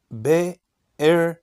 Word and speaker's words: Berseba: Pronuncia-se em hebraico Bercheva.